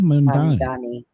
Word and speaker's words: Mamdani: Am I pronouncing it right? Mamdani? Mamdani.